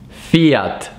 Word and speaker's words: Fiat: Then I don't know exactly how you guys pronounce this one, but I'm gonna give you the exact pronunciation, which is Fiat.